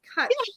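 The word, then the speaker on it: cwtch: Kutch, the Kutch witch.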